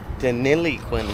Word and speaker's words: Deniliquin: Deniliquin, like how it's spelled.